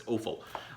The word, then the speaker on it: Offill: I always pronounce it awful, but it's Offill.